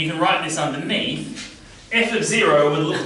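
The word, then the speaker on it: f(0): value in so this we would pronounce f of0 and here F of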